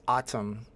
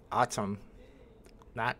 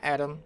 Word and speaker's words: Autumn: the last month is how to pronounce Autumn I think I got it right now right autum not not Adam not aim Autumn I'm GNA have to